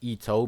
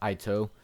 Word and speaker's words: Ito: And Ito is pronounced Ito because of its Japanese pronunciation, not Ito.